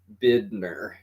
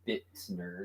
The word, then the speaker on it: Bidner: say it, and everyone always thinks Bitner. that, yeah, they're always thinking Bittner. No, No, there's no T's in it. There was no no, T no, at so all. it's Bidner.